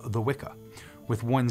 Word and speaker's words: Wicca: understand the pronunciation of what we call Wicca with a hard K nowadays was actually cha back then as in which or Stitch or Rich if I'm not mistaken